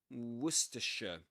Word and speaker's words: Worcestershire: Worcestershire. Worcestershire. And the accented syllable is the first one.